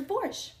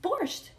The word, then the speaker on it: borscht: i'm at lunch and i order borsch and the waitress says to me actually it's pronounced borscht this is an